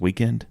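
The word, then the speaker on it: The Weeknd: of his songs and they don't even spell it right it's we w e k n d or something it's pronounced weekend okay do you know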